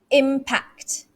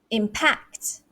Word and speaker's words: impact: you're doing it okay the third word is impact impact so m higher pitched but if it's a verb it's impact impact packed here stress here all right the fourth